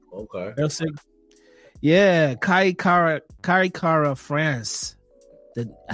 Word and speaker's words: Erceg: Erceg. Okay. Erceg.